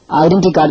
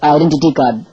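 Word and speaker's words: identity card: இது போல சரின்னு நினைச்சு தப்பா உச்சரிக்கிற ஒரு சில வார்த்தைகளை பாருங்க. விசா கிடையாது, வீசா. பர்னர் கிடையாது, பர்னர். டைவர்ஸ் கிடையாது, டிவோர்ஸ். ஐடென்டி கார்டு கிடையாது, ஐடென்டிட்டி கார்டு.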